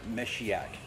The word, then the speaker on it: Meshiaak: know I that they called me so it's pronounced miss yak I'm as she act it's the name Messiah